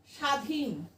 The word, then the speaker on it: স্বাধীন: স্বাধীন আমরা বলি স্বাধীন, আমরা দন্ত স উচ্চারণও করি না। তাহলে বলতাম কি? স্বাধীন। দাঁতের সাথে লাগিয়ে দন্ত স্বাধীন, স্বাধীন তো বলি না, আমরা বলি স্বাধীন। এখানে তালব্যস্বর উচ্চারণ হয়, তাহলে আমরা বলছি স্বাধীন।